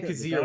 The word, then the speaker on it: Kyzir: Okay, Kazir White.